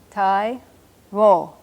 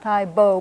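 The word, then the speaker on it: taibo: T-A-I, that's T-A-I, Tai-wo. Not Tai-bo, but Tai-wo, like this, B-O.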